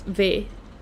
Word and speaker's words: Ve: And the nickname is supposed to be said as Ve. Because Ve, you uh you cut it off and Ve stays. But people say Vi all the time and I'm okay with it.